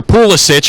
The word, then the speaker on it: Pulisic: to the United States his name's pulisich his name I I agree with Ian dark his name's pulisic because that's how it would be pronounced uh where his family came from but again if you're